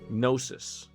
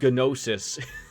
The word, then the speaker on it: gnosis: where the rumor goes gnosis i'm assuming the g is silent well because of its